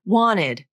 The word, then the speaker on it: wanted: And in fact, it's very common to drop the t consonant in a word like wanted. I wanted to go. I wanted to eat spaghetti. Wanted. Wanted. I dropped the T from my pronunciation. Why? This word follows the rules of what's called the nasal flap, sometimes called the vanishing T.